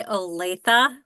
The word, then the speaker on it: Olathe: It's actually Olathe. Olathe? Yeah, it's a tricky one.